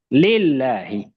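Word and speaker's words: لله: Lillahi. Nah kalau gak ada hamzah wasal bawah bacanya li.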